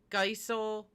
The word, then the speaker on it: Geisel: is how did we pronounce it geizel diesel geisel spelled backwards kind of like kind of like a a.i okay gotcha um so